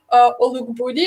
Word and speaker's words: Olugbodi: tonight I have a very, very special guest, our member from High Profile, Olugbodi. I hope I pronounced that right.